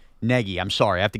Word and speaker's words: Nagy: Negi, I'm sorry. I have to get this right. It's pronounced like Neg Peggy. Yeah, like Peggy. Yes. Matt Negi, yes, I think is a competent offensive coach.